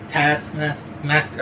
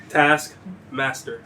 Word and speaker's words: Taskmaster: Taskmaster. Oh fuck. No. You say it. Taskmaster.